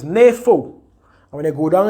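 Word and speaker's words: νήφω: The transliteration, the pronunciation. Strong's G 3525. NAFO. Right. So it's NAFO.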